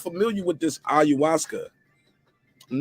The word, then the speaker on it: ayahuasca: messed it up again how you say it say it again ayahuasca ayahuasca how do you guys feel